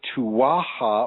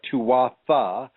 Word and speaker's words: Tuatha: The Irish people have a certain way of pronouncing their name, which is probably more correct than the way that I'm going to pronounce it. But I'm going to pronounce it the way that most of us see it when we read it. And it's the name of the race of people is called the Tuatha or Tuatha, Tuatha, De, that would